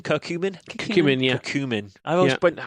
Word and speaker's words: curcumin: true they said that curse human because you mean curcumin cooking really a cumin